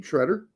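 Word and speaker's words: Sciaretta: and that is how he told us to pronounce his name Shredder so that's how we're pronouncing it uh any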